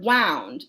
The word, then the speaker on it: wound: one bright fish rippling wound or wound to rhyme with around i like it could